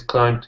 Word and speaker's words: climb: there sub before no you will never pronounce that b and climb um oh yeah right